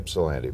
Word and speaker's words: Ypsilanti: Is that the way you pronounce it? Ypsilanti? Yes, Ypsilanti. Michigan? Most people say Ypsilanti because it starts with a Y.